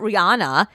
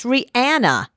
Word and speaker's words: Rihanna: It's not Rihanna. It's Rihanna. Anna, A-N-N-A.